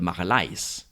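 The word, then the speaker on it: Magalhães: the case of magellan machelanes isn't even his real name it's fernando de marleis because he wasn't actually spanish he was portuguese now given what we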